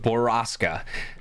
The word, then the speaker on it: Borrasca: this story um but the story is called boraska uh I'll spell it out for you guys out there b